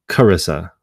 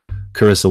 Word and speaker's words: Charissa: Carissa. You like, if it's like Chris, where the H is silent. Carissa, what's up?